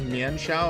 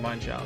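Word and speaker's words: Mienshao: I know many people pronounce Mien Shao. I used to do it as well. But it's based on an animal that has mine in the name. I don't remember what it is. So it's, to my knowledge, the official pronunciation is Mine Shao.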